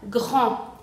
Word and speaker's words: grand: Y entonces la D final no se va a pronunciar, por lo que sería la palabra grand.